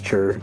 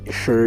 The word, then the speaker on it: Cher: uh good or not I don't know why I keep pronouncing it as Cher I know it's sure but I'm sticking with chur okay uh so is